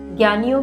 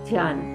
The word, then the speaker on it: ज्ञान: मैं ही हूं जन अब तक तो आप इसका उच्चारण ठीक से करने लगे होंगे मैंने बहुत पूर्व की वीडियो में यह बताया भी था और अक्सर कहा भी था कि ज्ञान नहीं ञान और उसके बाद से मैं इसे ज्ञान ही उच्चारण करती हूं तो संभवतः आप